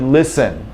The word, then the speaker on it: listen: t or a d it's absent it's silent okay so you've got the word listen okay if you're taking